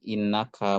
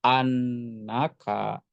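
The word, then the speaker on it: أنّك: dibaca kasrah untuk hamzahnya tidak balagoni innaka mujtahidun tetapi yang betul balagoni annaka mujtahidun itu jadi posisinya ketika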